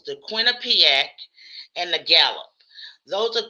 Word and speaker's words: Quinnipiac: It's the Quinnipiac and the Gallup.